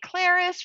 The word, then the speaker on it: ClariS: Hi Crystal, hi ClariS from Paris. Um, she's not from Paris, but that's how I remember how to say her name um and pronounce it correctly.